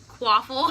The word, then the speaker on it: Quaffle: Rhymes with waffle. Quaffle.